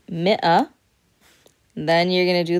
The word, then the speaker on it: مئة: And for 100, مئة, مئة, مئة. So you're pronouncing in فصحى the همزة there, مئة.